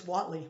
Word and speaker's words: Whately: And people are like, it's Whatley. I'm like, there's an E in there. I pronounce it Whately. Either one's okay.